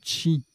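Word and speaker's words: qi: Qui se prononce également chi, énergie vitale dans les pensées chinoises et japonaises.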